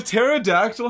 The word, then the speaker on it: pterodactyl: wrong with it or a pterodactyl has like a p in the name right oh we have